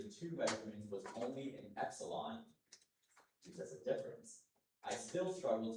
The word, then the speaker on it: epsilon: Of course, epsilon is the main pronunciation. I'll also give you epsilon.